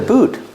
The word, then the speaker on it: boot: yeah it's a boot pronunciation boot use a long ooh like Moon and soon boot with a T at the end it's a stop T boot stop the air with your tongue boot this is a little Christmas